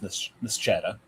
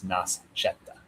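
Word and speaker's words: Nascetta: Sometimes it's just pronounced Nchetta, but if it's pronounced properly and it's and it's and it's made in Nell, it can be referred to as Nasetta.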